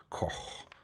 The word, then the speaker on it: Koch: Aeroholic says, well, the proper German pronunciation is like Koch, with the last sound like H in hot. Koch, Koch.